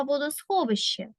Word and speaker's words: водосховище: правильно фонетичну транскрипцію слова водосховище так Це в нас транскрипція б адже літера щ в нас має два звуки ш ч пригадаємо з вами із